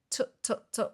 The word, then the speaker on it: tsk: In the letter, he or she quoted, I'm going to say tut, but it's spelled tsk, tsk, tsk.